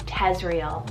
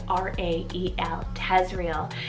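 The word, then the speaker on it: Tezrael: name on the boys side is the name tezrial spelt t-e-z-r-a-e-l tezreal and this one's a modern variant meaning he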